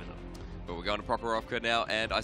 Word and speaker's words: Prokhorovka: But we're going to Prokhorovka now, and I said it right for the first time, Elfin, which done.